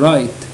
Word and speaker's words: write: هنا في الكلمة دي ما بنقولش إيه ننطقش الدبليو لأن بعدها R نقول write ولا help يساعد.